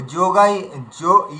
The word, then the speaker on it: योग: হ্যাঁ, যোগাই যোগা যোগা হা নেই, ঠিক আছে? ওখানে বিসর্গ নেই, যোগা। বাকি আপনার সব ঠিক হয়েছে। অর্জুনা বিষাদ যোগা। ও গা মানে গয়ের সঙ্গে অয়ের উচ্চারণ, গা, ব্যাস এই পর্যন্তই।